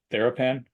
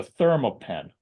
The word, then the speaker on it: ThermoPen: and get you a TheraPen. Get the name wrong. I say it all the time. It's a ThermoPen.